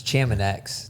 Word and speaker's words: Chamonix: Well, that's like saying we're going to be in No, I'm pronouncing. Leadville. I think everyone knew what I meant. It's Chamonix.